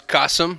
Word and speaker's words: Kasim: for my name is Qasim rhymes with awesome and I'm the CEO